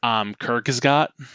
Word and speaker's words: Kurzgesagt: I'm going to butcher the pronunciation of it, but it's Kurzgesagt. Oh, yeah. Kurzgesagt.